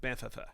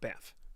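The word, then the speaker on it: Banff: there's two FS remember and in Canada we pronounce it bantha it's not Beth okay all right see what's next here all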